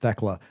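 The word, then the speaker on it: Thekla: I don't know, but uh I think Teka wins this. But I I I think it's kind of intriguing that Starllight Kid could get a win here. It's pronounced theckla.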